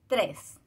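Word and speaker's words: tres: Alors, on prononce le S final aussi. 3.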